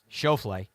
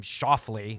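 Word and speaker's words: Schauffele: people continue to struggle with like Xander's name chaffle people continue to insist in calling him schafle which is actually a mispronunciation which is really interesting but there were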